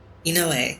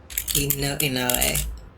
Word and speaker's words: Inoue: Inoue, I think is how you say that.